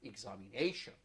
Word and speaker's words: examination: longest syllable so here like the word examination examine a nation so where nay is the stressed syllable very nice yes please